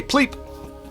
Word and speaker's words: PLP: Pronounce it, it's easy to say. Pleep.